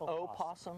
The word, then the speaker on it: opossum: come back we're going to meet uh an opossum is that the proper way to say it opossum yes opossum that's correct our native marsupial yes